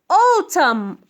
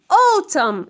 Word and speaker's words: autumn: And the last one is autumn. Autumn. This N is silent. لا تلفظها. We write it but we don't pronounce it.